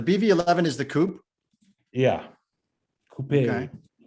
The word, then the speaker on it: coupe: is the coupe yeah coupe kind of like rhymes with the hairpiece i'm going to be